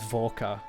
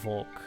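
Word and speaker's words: Volke: the official name just the official way to say his name is volca instead of uh Volk which I thought it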